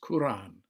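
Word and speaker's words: Qur'an: from the arabic because when it's spelled k-o-r-a-n it's very easy to just call it the quran and it's quran with a slightly trilled r and it was presented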